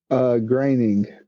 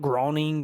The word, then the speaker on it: Groening: Graining. Graining. I've always pronounced it like Groening or like, I don't know.